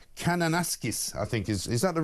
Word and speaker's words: Kananaskis: well over in Canada in a place called Kananaskis, I think. Is that the right spelling? Ryan, very good right pronunciation.